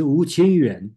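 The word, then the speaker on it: 吴清源: I believe it's Wu Qingyuan.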